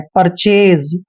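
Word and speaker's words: purchase: उच्चारण र लिखेंगे और सी एच को हम च पढ़ते हैं एक को एक की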